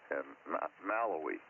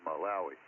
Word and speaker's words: Malawi: And anyway, they got a vampire mania spreads in Malawi. I believe that's how you pronounce that, Malawi, Africa.